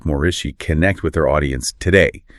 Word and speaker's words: Moreci: We're talking about the super highly anticipated third book in Jenna Moreci's The Savior series. And just quickly, for anyone wondering, her last name, it's pronounced Moreci.